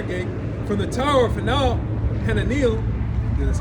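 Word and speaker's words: Hananeel: unto the corner gate, from the tower of Fal Hanil, that's how you say it, unto the king's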